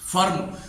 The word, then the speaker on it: firm: फर्म, फर्म की spelling क्या होती है, FIRM, फर्म।